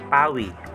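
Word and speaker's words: 바위: P naman po ang bigkas nito kapag nasa unahan. Katabi po, yung A. Yung A po. Ito naman po yung U. Yung U, tsaka I po. Ang bigkas po niyan ay Wi.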